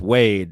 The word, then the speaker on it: Wadden: That's 57, Dwayne Wadden. But the way he pronounces it is Wade, and for some reason.